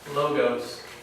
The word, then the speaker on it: logos: Logos. It's not logos. It's logos.